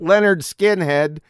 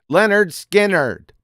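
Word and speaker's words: Lynyrd Skynyrd: was it again yeah not leonard skinhead leonard skinnard pronounced leonard skinheard that's an album by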